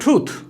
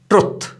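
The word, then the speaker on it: truth: एक और एग्जांपल लेते हैं, ही स्पोक द ट्रूथ, ये भी याद रखिए, मिस्टेकनली अक्सर हम इसको गलत प्रोनाउंस करते हैं ट्रुथ, तो ये लफ्ज ट्रुथ नहीं है, इट इज ट्रूथ, he spoke the ट्रूथ।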